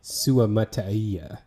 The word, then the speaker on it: Suamataia: Um, well, number one is that I realized that after correcting my pronunciation of his name, I still didn't have it right, and that's Kingsley Suamataia is how you say his name.